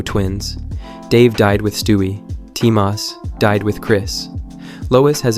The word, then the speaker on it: Timas: Timas, apparently pronounced like Thomas, without the ho, was Chris's twin who died before birth, stillborn.